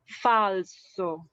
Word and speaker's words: falso: t for example okay next when s is after any consonants after any consonants for example in this case this consonants the s is after the consonants l so this case is read as falso next when s is